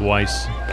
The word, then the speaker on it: Weiss: I guess we'll go with Weiss. 6 yard line. Had it right the first time. You know, my German heritage, Kevin, sees that I. That's what you pronounce when it's EI.